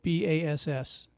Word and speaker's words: Bass: Oh, yeah, no, Bass like the fish. Ah, well, Martha there you go. Bass.